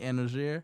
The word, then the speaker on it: Anozier: name the name that you use for Anthony anoer sir that's how I pronounce it I ain't butcher you got that